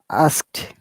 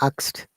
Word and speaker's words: asked: past participle saying asked asked remember that very often we got confused to pronounce words asked no it is a ask ask asked and the d sounds like t right so asked ask asked